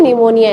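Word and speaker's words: pneumonia: इसका नाम ठीक है पी साइलेंट होता है निमोनिया इसको कहते ठीक है तो पथोजाइम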